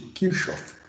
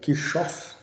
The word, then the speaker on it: Kirchhoff: O que nós vamos estudar agora, gente, é chamado de leis de Kirchhoff. Tem gente que pronuncia Kirchhoff, tem gente que pronuncia Kirchhoff, mas fica a critério, tá bom?